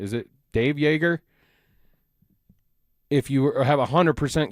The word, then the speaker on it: Joerger: I think I pronounced is it Dave Joerger? If you have a 100% confidence in in David Adelman, don't ask me Olympics and swore. Ask Alex. Joerger. Yeah. Yeah. Joerger.